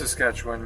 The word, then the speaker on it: Saskatchewan: Saskatchewan, yes.